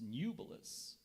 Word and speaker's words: nubilous: language of origin Latin are there any alternate pronunciations there is nubis nubilus n u b e l